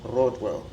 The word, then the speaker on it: Rodwell: So back home we have a strong R, like it's Rodwell, like if we were like in Zimbabwe.